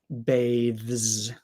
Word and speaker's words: bathes: to make more of a z sound bathes bathe but let me see if if I speak naturally do I really pronounce it like that bathes bathes yeah yeah I do it's um when I'm not speaking so clearly the z sound is a little bit more like an S bathes but um if we're speaking very slowly very clearly bathes but no one speaks that clearly oops comments okay so